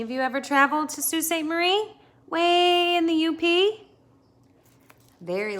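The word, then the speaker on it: Sault Ste. Marie: mission in northern michigan they built it at st marie which we pronounce most of the time as sault ste marie because it is french a mission was a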